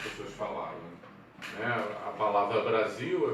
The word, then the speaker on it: Brasil: A palavra Brasil é bem representativa disso, quer dizer, se fala com som de Z, mas se escreve com S, né?